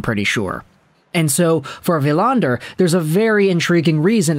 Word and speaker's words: Willander: oh his name is willander but I think it's a pattern everybody is familiar with by now in Swedish the W is translated into two v's so it's a hard quick villander and that's kind of